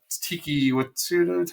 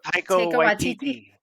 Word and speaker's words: Taika Waititi: Tiki Watsuda. How do you say her name? Is that her show? Taika Waititi.